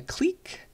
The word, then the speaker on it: clique: also sometimes called a clique it's pronounced Clique this word we use the French pronunciation though like in English when